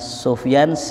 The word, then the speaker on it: Sufyan: adalah Sufyan Ibin uyainah kalimat Sufyan kata ulama boleh dibaca Sufyan boleh dibaca shift yang boleh dibaca shaf yang jadi kalau ada orang namanya Sofyan Sofyan itu namanya cara baca Ya saya